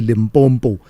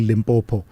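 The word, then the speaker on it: Limpopo: that a lot of people mispronounce it, by the way, and say limbbo instead of saying limbopo.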